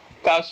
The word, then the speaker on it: cache: Cash is where where they store ammunition.